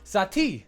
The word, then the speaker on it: Saati: jump right into it satie you don't hear me say sadie but sati is how you say let's see this we